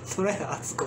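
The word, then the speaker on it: 虎谷敦子: それね、虎の谷と書いて、虎屋敦子って読むんです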